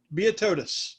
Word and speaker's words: Beotodous: Beotodous, because it sounds like Leonidas.